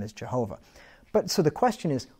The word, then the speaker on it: Jehovah: letter word it's going to be a three syllable word okay so that's why the name is Jehovah right so if you put vowels in between